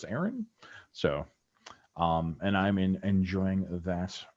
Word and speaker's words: Aeryn: And reading, I am reading the Iron Kingdoms Chronicles by Aaron Rudell, and I'm not sure if I'm pronouncing it right because it's spelled Aeryn, but I'm pretty sure that's Aaron.